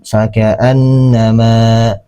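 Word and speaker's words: فكأنما: Ya, makanya dibaca dua harakat. Faka fakaannama fakaannama ma seperti itu.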